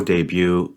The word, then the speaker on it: debut: do that first tarot debut ballet and Rapport these are words ending with a silent T and I think we